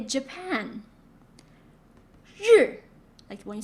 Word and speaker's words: 日: Okay, so when you add R, just simply voice it. Feel the vibration on your vocal cord. Zh, zh, zh. Jacques, Asia, and measure, zh, zh.